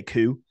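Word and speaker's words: Koe: I mean, that just means cow in Dutch if you say coup. So that's how I pronounce his name in my head, but.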